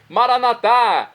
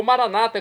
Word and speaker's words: Maranata: aramaico dialeto de Jesus maranat como dizemos nossos católicos ou Maranata como dizem nossos irmãos separados os evangélicos ou protestantes não importa pronúncia o significado é o mesmo vinde Senhor Jesus